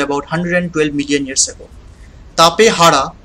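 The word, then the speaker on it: Tapejara: safe from a circle next we have the tapehara well it means the old being it is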